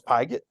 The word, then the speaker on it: Pigot: long you calling me you say my name wrong you know it's pigot pigot yeah General piget General